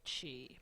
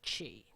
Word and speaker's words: Qi: be a video lineman I think that it's actually pronounced chee because I've seen it also spelled Qi and no she was